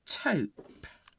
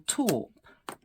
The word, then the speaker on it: taupe: there we go right changing to taupe or torp depends how you say it I suppose oh I didn't write